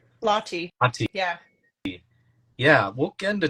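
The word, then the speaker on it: Lahti: I mean, by the way, congratulations on the Ironman World Championships at how do I pronounce it? Is it Lati? Lottie.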